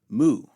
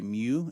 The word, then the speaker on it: mu: mu mu is next makes an M sound as in moon mathematicians and others will say mu and that's fine but it's not how we pronounce it in the guild for academic biblical and Theological Studies but again it's coin a so if you want to say me you that's fine go for it makes an M sound